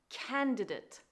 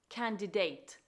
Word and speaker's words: candidate: pronounce this word well the correct pronunciation is candidate candidate and not candidate okay we don't date a candidate so it's candidate your turn all right moving